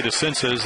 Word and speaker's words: DeCinces: Well, Doug DeCinces did it. It used to be DeCinces, and when he got to the big leagues, it became DeCinces.